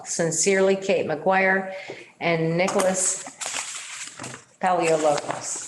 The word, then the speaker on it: Paleologos: Sincerely, Kate McGuire and Nicholas Paleologos. Is that how we pronounce that? Paleologos, yeah. Yeah.